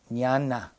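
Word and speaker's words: jhāna: form absorptions now you've heard the word nana it's spelled in English JH a j h a n a n Nana with an a at the end I'm sorry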